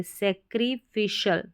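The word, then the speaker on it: sacrificial: पे है यह सैक्री इसको सैक्रिफाइस नहीं पढ़ेंगे सैक्रिफिशियल सैक्री फिशियल सैक्रिफिशियल चलिए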